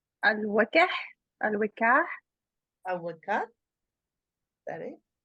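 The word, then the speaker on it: Al-Waqi'ah: Al-Waq'iah. Al-Waq'iah. Al-Waq'iah? Is that it? Does anyone know like the proper? The Arabic. I guess Waqi'ah. It's Surah Al-Waq'i'ah. Waqi'ah.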